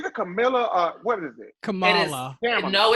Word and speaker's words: Kamala: It is Kamala. That's what. Yeah, Kamala. My bad. I've been saying Kamala. Can I call her Kamala? Okay. It's Kamala. Yeah, that is how it is pronounced.